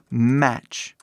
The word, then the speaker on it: match: não ninguém fala assim o t aqui quando você vê esse tch é mudo sempre mas um exemplo aqui seria match que significa Tipo combinar ou também combinação mas novamente veio a pronúncia Mat não é Mat né assim falando o